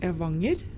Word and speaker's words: Evanger: Oh yeah, and the pronunciation of the previous station was Evanger, and this station is called or pronounced Bolstadøyri.